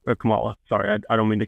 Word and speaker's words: Kamala: yeah thanks for that because of Marvel's um Kamala con M Marvel they spelled the same way pronounce different I'm G to screw